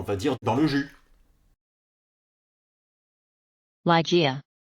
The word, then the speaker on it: Ligeia: Ligeia. Ligeia. Ligeia. Donc j'ai essayé de me conformer à cette prononciation-là, Ligeia. Donc Lai, ça pose pas de problème, c'est bien Lai.